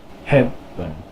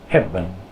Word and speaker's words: hebben: How come it's not pronounced eh? It's pronounced What's up with that? Well, this one falls in an unstressed syllable. Hebben. Hebben. So, an unstressed syllable with an E in it, the E becomes what we call a mute E. It's not really muted, it's just pronounced which is also known as the schwa sound.